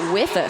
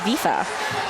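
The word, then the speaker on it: Wifa: Let's have a think about Wither skates. Oh, it's pronounced Vifa.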